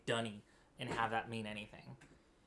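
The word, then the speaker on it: D'ni: books, and I have always read this as Denis, um, which is how, D apostrophe N-I always looks to me. But apparently it's supposed to be pronounced Dunny, which is just the worst.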